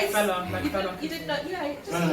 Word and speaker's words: Fela: Fela. Okay, and Pronounce it Fela.